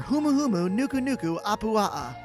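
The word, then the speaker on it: humuhumunukunukuapuaʻa: is the letter h this animal has 12 syllables in its name and i've been practicing all weekend i guess that video gave it away h is for humuhumu nuku nuku apua nailed it the humahumu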